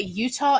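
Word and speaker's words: Eutaw: location by the way there's also a Utah Alabama and it is not spelled it is spelled like if you phonetically it is like e-u-t-a-w Alabama I know there's a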